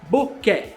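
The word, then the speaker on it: bokeh: que significa borrão e tem a pronúncia correta boqué beleza pessoal bom esse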